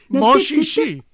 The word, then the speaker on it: Monchichi: Manchichi. Moshishi. Manchichi. The C's are cha.